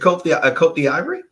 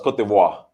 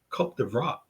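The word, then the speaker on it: Côte d'Ivoire: Is that how you pronounce it? Cote d'Ivory? No, it's Cote d'Ivoire. Cote d'Ivoire. It's Ivory Coast in English or Cote d'Ivoire. Cote d'Ivoire in Francais, in French. Did you take French, Fitzgerald?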